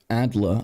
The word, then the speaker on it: Adler: David Adler David Adler Adler I guess an American but this is a German name folks I'm pronouncing it correctly David Adler of of